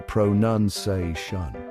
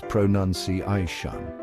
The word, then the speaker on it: pronunciation: The mistake, people usually say pronunciation. It's a common error, but it's not quite right. But hold your horses, folks. Let's set the record straight. The right way to say it is pronunciation.